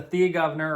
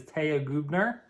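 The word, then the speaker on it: Thea Gouverneur: remember this is the thea governor or if you want to uh correct pronunciation i believe is taya gubner i'm english i say thea governor anyways here is what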